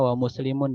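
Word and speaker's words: ومسلمٌ: Rawa al-Bukhari, diriwayatkan oleh Imam al-Bukhari, wa muslimun, ya, bacanya wa muslimun nih, walaupun tidak diharokati. Kenapa muslimun Ustadz, bukan muslimin atau musliman? karena dia jadi fa'il. Fa'ilun marfu'un bid-dhammah ya.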